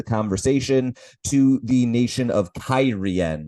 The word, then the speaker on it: Cairhien: to the nation of Cairhien, which, yes, that's apparently how it's pronounced according to the television show.